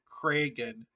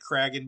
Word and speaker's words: Kragen: a big deal but my last name is pronounced kragen smiley face like that like an open mouth smiley face i'm sorry i know i'm i'm sure that i pronounced it cragging before so i i apologize